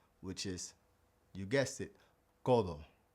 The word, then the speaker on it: codo: So, the key to mastering the pronunciation of the Spanish D inside of a word is pronouncing it like the th like we have in though or the.